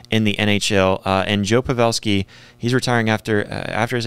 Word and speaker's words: Joe Pavelski: uh to Joel sorry Joe pavelski for some reason when I say his name my my tongue wants to add an L on the end Joel Pavel it's Joe pavelski he ends up announcing